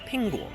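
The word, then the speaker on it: 苹果: apple is pronounced as pingo so they sound very similar and chinese they love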